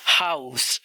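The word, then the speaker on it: Haus: अगर यह लास्ट में आ जाए किसी वर्ड के तो उसको एस की तरह प्रोनाउंस किया जाता है। For example हाउस।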